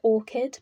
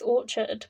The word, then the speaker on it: orchard: as the orchard is, I always call it orchid, but it's orchard, but it's how I pronounce it.